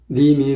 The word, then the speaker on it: 님이: 님이 넘던 이렇게 돼야 돼. 근데 님이 넘던이 아니고 짐이 넘던이 돼버렸어요. 짐이 넘던. 발음을 잘 들어보시면 짐이 넘던으로 발음을 하고 있어요. 이건 아니란 얘기죠.